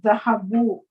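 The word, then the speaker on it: ذهبوا: Now they went, dhahabu, idhahabu. Note that there is an alif at the end of the word which is not pronounced.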